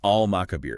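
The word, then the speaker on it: المقابر: So we clearly hear the al sound, al-makabir.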